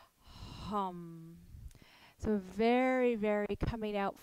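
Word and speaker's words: हं: and it is pronounced hum hum so very very coming out from the throat space very much you can almost feel the vibration when you say hum kind of circulating itself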